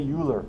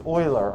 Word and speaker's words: Euler: by a mathematician named euler the name is euler it looks like euler don't say euler i will publicly mock you if you say euler it's a german name it's euler all right this is